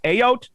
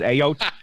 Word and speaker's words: Ayotte: They drive around, and his last name is Ayotte, which sounds like a kid trying to say scared, like I'm really scared, but his name is Ayotte.